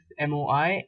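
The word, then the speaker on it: mois: is if it is only month it is moi and if you it is months you add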